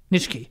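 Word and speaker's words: Nitschke: pulled out this thing philip go ahead nicky spell it n-i-t-s-c-h-k-e nishki yeah nishki uh the pods flood the inside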